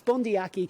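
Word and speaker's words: Bundee Aki: got around but please get it right going forward it's bondyaki there's no need to double check this that's how he pronounces his name but the second point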